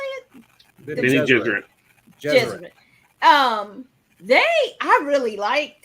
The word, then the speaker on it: Bene Gesserit: And I think that the Bene Jesuit. How do you say it? Bene Gesserit.